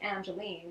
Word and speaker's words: Angeline: Well, and that makes sense because my full name is actually Angeline, which is Angel Ein, if you spell it differently. It's got the word angel in it.